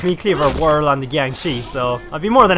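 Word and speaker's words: Jiangshi: Undead Asian vampires that's all they did um Gangi that's how you pronounce them I couldn't remember remember the right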